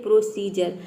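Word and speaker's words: procedure: जैसे एग्जांपल देख लेते हैं, यहाँ पे देखिए प्रोसीजर। प्रोसीजर में आप देख सकते हैं डी के बाद यू आर ई आया है।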